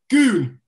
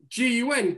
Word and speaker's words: Gun: Ken, who the fuck is his goon? Name Ken? Is his name Ken or not? Mate, the translator's called Ken. No, the translator's called Ken. The bloke's called Goon, but it's spelled G-U-N, Gun.